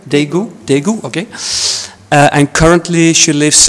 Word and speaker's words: Daegu: Do I pronounce that correct? Daegu? Daegu, okay.